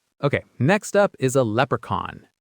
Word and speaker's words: leprechaun: Okay, next up is a leprechaun.